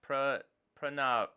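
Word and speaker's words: Pranav: Uh, also my name is pronounced prrenav prrenav. Okay, I will try to get that right in the future.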